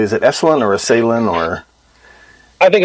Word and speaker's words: Esalen: Am I pronouncing that correctly? Is it Esalen or Esalen or?